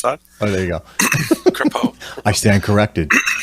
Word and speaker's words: Crapo: I think he said Crapo, I think is what he pronounced the guy's name. So that's my first thought. Oh, there you go. Crapo.